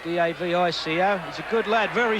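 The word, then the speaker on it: Davico: Devo I think he it's pronounced DAV Ico he's a good lad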